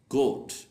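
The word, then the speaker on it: gate: jail gymnasium gym gymnastic exception गेट अब यह जो वर्ड है गेट जे के बाद ई तो आ रहा है लेकिन हमें इसको जेट नहीं पढ़ना गेट पढ़ना है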